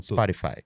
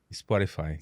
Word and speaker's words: Spotify: Spotify. Spotify. É assim que se pronuncia, esse é o correto. Em inglês Spotify.